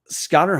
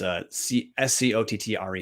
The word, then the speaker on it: Scottre: Scotter Humphrey, and I guarantee I pronounced the dude's first name wrong. It's Scottre Humphrey.